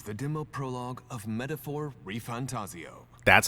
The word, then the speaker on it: ReFantazio: bloodline here Begins the demo prologue of metaphor reantaso that's how you say it what we have